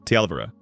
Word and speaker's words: Tielvara: "The stress is on the second syllable, Tielvara."